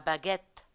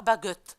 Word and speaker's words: baguette: C'est l'exemple de la baguette. On ne dit pas la baguette. Non, on dit la baguette. On prononce E et même s'il n'y a pas d'accent.